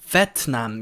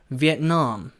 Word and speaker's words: Vietnam: I went to Vietnam, Vietnam. 그래서 보통 비엔남이라는 것까지는 아시는데 앞에 강세를 줘가지고 비엔남 이렇게 보통 생각을 많이 하시는데 강세가 비엔남이 아니고 뒤로 가요.